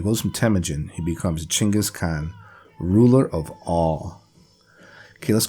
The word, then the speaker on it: Genghis Khan: name wrong you spell it wrong and you pronounce it wrong his name is chingus khan not genghis khan why don't you say it